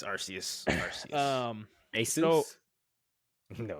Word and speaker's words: Arceus: It's Arceus. Arceus. Asus? So- No, it's definitely not Aces.